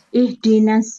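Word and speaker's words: اهدنا: Nah, berhubung dia adalah mu'tal Ihdina. akhir, huruf terakhirnya huruf yang sakit yaitu ya, maka harus dibuang. Makanya di-nya kan pendek. Ihdinas siratal mustaqim. Makanya bacanya nggak boleh dipanjangin.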